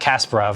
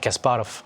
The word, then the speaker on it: Kasparov: Kasparov. Yep, absolutely. Although I'm sure it's not Kasparov. I'm sure it's like Kasparov or something like that.